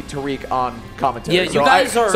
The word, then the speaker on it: Tarik: chat by the way we asked him how to pronounce his name he said please call me Tariq on commentary you guys